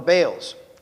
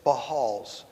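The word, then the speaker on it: Baals: commands and followed the bales. I say bales. I've been corrected today. It's Bahals, but I'm not going to learn to say that.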